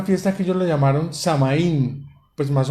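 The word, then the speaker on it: Samhain: que yo le llamaron samaín pues más o menos es la traducción san jaime san martín ágil algo así se escribe sm h y n samaín que significaba esa fiesta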